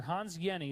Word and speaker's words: Hans Jenny: Hans Jenny, that's how you pronounce that name, even though it looks like Jenny, the J is silent, it's like a Y.